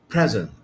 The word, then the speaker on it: present: Present can be used as a noun and adjective, and if it were used as a noun and adjective هتبقى النطق بتاعها present present present. If it were used as a verb هيبقى النطق بتاعها present present. الاستريس بقت على المقطع الثاني طبعا مع تغيير في